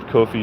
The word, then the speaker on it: Kofi: Yeah, no, because it's not pronounced coffee. I was corrected when I said coffee. It's Kofi. It's supposed to be a name. It's not actual coffee, which I learned, which is pretty interesting too, because I was like, man, it's spelled like coffee. He said, no, it's pronounced Kofi. I'm like, okay.